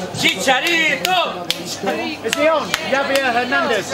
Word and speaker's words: Chicharito: I'm going to Chicharito! Chicharito!